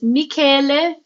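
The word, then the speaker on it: Michele: you don't know, um, my name is Mikuel and pronounced the Italian way, which is essentially saying Michael in Italian.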